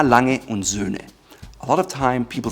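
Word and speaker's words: A. Lange & Söhne: Sohne. It's an umlaut, Ö, Sohne.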